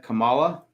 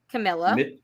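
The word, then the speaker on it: Kamilla: I have Kamala for 5. For 5. Camilla. Camilla. I'm sorry. Not to also be confused with Kamala, also frequently mispronounced.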